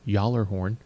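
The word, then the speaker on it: Gjallarhorn: Nick North's mythology it's in Norse mythology it's pronounced the collar horn or basically it just means really loud horn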